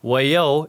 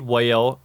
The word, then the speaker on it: Waiau: Although people commonly read Waiau and pronounce it as Waiau, an incorrect way of saying it.